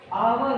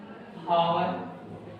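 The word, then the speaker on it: hour: आवर को काफी बच्चे पढ़ते हैं हावर, और मैंने हावर भी लिखा और हावर, और आर्टिकल का आप यूज करेंगे तो आप किसे करेक्ट मानेंगे।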